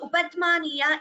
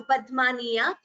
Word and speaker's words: upadhmaniya: So upadhmaniya is you expel the air and close your lips immediately.